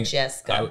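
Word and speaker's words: Modjeska: Was it spelled like M-A? M-O-D-J-E-S-K-A. Oh, I was thinking. Majeska. Yeah, okay.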